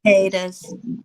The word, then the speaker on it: cicada: Cicadas. Cicadas. Cicada. Cicadas. Cicadas. It starts with the C. cicadas. CIA. That's them big old crickets. Cicadas. It's Yeah, like sick. It's pronounced like sick.